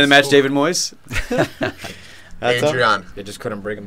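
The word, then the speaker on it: Adrián: You guys have been saying it wrong the whole time. You like saying the second A. Like the way the first day is supposed to be said. Adrian.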